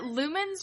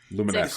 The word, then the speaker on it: Lumines: Uh, then we've got Lumens Remastered. Lumines. Lumines. Lumines. What? It's spelled Lumens.